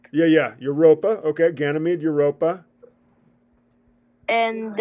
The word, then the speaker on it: Europa: do you say it it's like Europe yeah it sounds like Europe yeah yeah Europa okay ganam made Europa